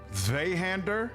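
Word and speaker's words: Zweihänder: The W in Zweihander is pronounced as a V. So Zweihander, is that the name, that the way it's pronounced?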